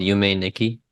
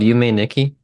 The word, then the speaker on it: Yume Nikki: And yeah, Have you ever heard of this game called Yume Nikki?